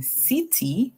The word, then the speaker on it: city: And then city, whenever S C comes before E, I or Y, it makes a sound like S. So we hear S. So then we'll say S, then it, and then the Y at the end makes a sound E.